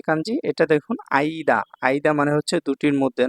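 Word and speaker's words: 間: হ্যা এই 94 নাম্বার যে কাঞ্জি এটা দেখুন আইদা। আইদা মানে হচ্ছে দুটির মধ্যে না বিটুইন। এরকম কিছু। তারপর এটার উচ্চারণে মাও বলা যায়। মা আর চাইনিজ উচ্চারণ হচ্ছে কান।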